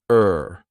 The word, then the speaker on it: her: about Let Her Go notice how her sounds like er you don't hear the H just R but I also attach it to the word before so I link those